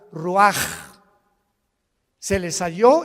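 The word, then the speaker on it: רוּחַ: exhaló Isaac el rach así como suena se pronuncia la c en hebreo como J ruaj se les halló y se traduce espíritu y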